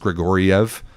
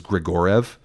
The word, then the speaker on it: Grigoriev: I was very certain it should have been pronounced Grigoriev, 4 syllables, but it was written in Irvine's team published pronunciation guide that it was Grigorev.